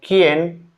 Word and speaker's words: quién: Letter U in combination like que, que, que, que means what, or quién, quién, quién, quién means who, is not pronounced the letter U, except in some